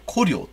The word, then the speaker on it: 高麗: あのその感じその高麗の感じは考慮朝鮮語で古料と発音されるもんであの